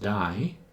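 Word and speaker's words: ∂: to the partial derivative with these symbols that we pronounced die so instead of DF by DX it's die FD X pronounced to die just the DI which I should have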